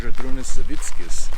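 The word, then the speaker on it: Žydrūnas Savickas: And the actual way you pronounce his name is Zadrunas Savickas. Yes. And it's just weird because it doesn't look like that at all.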